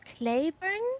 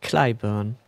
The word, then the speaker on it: Clybourne: Ja, wie spricht man das aus? Clayburn? Clyburn.